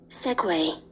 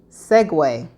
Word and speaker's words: segue: And this is how it is pronounced. Segue. Segue.